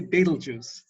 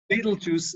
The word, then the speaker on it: Betelgeuse: The first thing I'll comment on is how you say Beetlejuice. So I always say Beetlejuice.